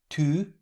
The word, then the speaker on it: tu: In order to pronounce this sound, try to say E, but round your lips at the same time. So the pronunciation is U. Have a look. Tu, jupe, flûte.